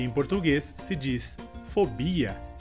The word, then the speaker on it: fobia: Nossa próxima palavra seria em espanhol fobia e em português se diz fobia. A diferença então seria que em espanhol a sílaba mais forte seria a sílaba inicial, fó, e em português seria bi.